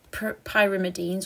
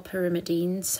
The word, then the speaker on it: pyrimidines: so first of all we've got pyrimidines or pyrimidines however you want to pronounce that and that consists of